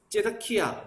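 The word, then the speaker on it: צִדְקִיָּה: 단어와 제다카라는 말을 쓰는데이 시드기야가 그래서 원 발음은 째다키아 뭐 이렇게 비쌀건데 우리나라 말로 하면 시댁이야 그래서 하나님께서는 의로우시다 이런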